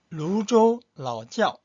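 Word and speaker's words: 泸州老窖: 그 다음에 두 번째가 루조 라오지ao. 루조 라오지ao. 근데 지ao 할 때 지야오 지아오입니다. 짜오가 아니고 지치 발음이에요.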